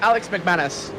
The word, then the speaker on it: Alex McManus: chasing down alex mcmanus i think that's how you pronounce his name yep alex mcmanus perfect and then uh we